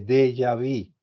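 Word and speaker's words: déjà vu: es la crisis de de yavi se escribe de jaú pero se pronuncia de yavi eso eso es francés el de yavi significa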